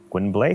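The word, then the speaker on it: Gwynbleidd: In English, that will be pronounced how? Gwynblade?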